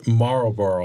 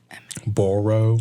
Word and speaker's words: Marlboro: You don't really say like, Boro? Yeah. You don't really say that part.